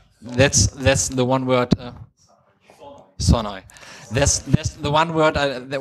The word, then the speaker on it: Sonoj: Now you all know how it's pronounced. Actually, it's Sonoy. That's the one word. Sonoy.